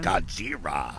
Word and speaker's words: Godzilla: still have has uh godzilla versus kong playing godzira so that's how they say it that's how they say it in japan really godzira yeah all